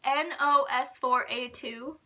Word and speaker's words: NOS4A2: how you pronounce it it's like nos4a2 by joe hill it's like a license plate number i have not read